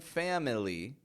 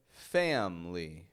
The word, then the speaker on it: family: But for today, notice in the word family, I'm not pronouncing the I. I'm not saying family or family, but rather family. Family. Family. Americans have totally dropped the I in pronunciation from that word simply because it's such a common word and we pronounce it so fast, family, family, that there's no time for the schwa.